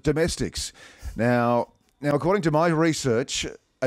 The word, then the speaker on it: Domestiques: Now, have you noticed, Tills and Hollywood, that I do pronounce it Domestiques? The voiceover guy who puts the sting together calls it Domestiques.